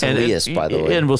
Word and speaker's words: Elias: It's Elias, by the way.